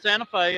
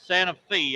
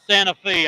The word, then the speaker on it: Santa Fe: It is not Santa Fe. I know it looks like it. But it's Santa Fe. I I got yelled at a lot by the Santa Fe people when I didn't say it right. So, it's Santa Fe, I promise. I know it looks like Santa Fe of New Mexico, but it's not.